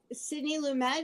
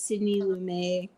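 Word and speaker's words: Sidney Lumet: And s I Sydney Lumemed is how you pronounce the director's name. Yes. Uhuh. Okay. I think for some reason I always thought it was Sydney Lumé.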